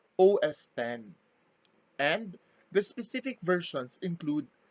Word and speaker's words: OS X: the recent versions are known as os x pronounced os 10 and the specific versions